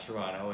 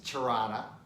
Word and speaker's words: Toronto: all their cities so it's not Toronto it's Tirana and it's not much